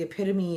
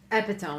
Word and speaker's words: epitome: Like the epitome of what we're trying to do is this." And he said he pronounced epitome epitom. epitome epitome, guys.